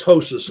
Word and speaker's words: ptosis: It's a condition called ptosis, and you can't spell it with a T. It starts with, I don't even know how to, it starts with P something.